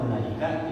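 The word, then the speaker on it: أولئك: Tapi menurut ilmu rasm, wawu pada ulaika itu tertulis namun tidak diucapkan, sama seperti wawu pada ulul albab.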